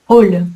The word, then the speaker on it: hall: Attention, hall sans eux se prononce hall avec le son O comme une tôle.